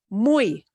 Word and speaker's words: muy: If Y is the last letter, it will have the E sound, like that letter I.